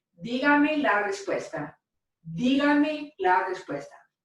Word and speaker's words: dígame: Now we put the stress in our voice right here over that syllable.